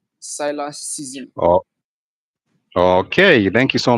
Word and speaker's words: Cylasszn: handle in all platform is Cylax season, which is spelled CYLASSZN. Cylax season.